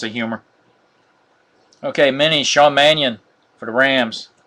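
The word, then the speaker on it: Mannion: our next Auto Sean mannon Manion excuse me forgot the eye there orange Alshon Jeffrey out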